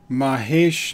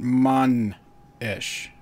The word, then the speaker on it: Mahesh: Mahesh, not Man-ish.